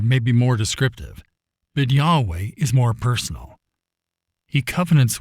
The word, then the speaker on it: Yahweh: This is simply one of many situations where Jesus and Yahweh are used interchangeably.